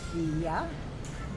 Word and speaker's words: Vija: Vija. The J in Europe is pronounced like a Y, which means the garland.